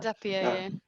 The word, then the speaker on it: Zapier: Zapier. Zapier, Now I'm paying the Zapier membership fee.